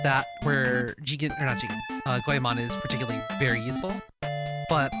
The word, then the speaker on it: Goemon: This is the part of the stream 2.5 hours in where I point out that you keep pronouncing it Goemon as is done in the Part 2 dub.